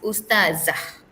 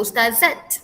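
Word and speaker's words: أستاذة: Ustaz, ustazah jangan sebut ustazat. Okey. Ingat ya, ejaan tak marbutah double t underline itu bunyinya ah bukannya at.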